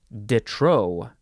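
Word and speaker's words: de trop: that the next word Detro dutrow that's this word uh it's two words d e and then t-r-o-p there's a p in there but you pronounce it Detro adjective from 1752 too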